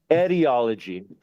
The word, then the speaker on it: etiology: It's a different word. Spell it for me. E-T, not E-D. Etiology. E-T, not I-D.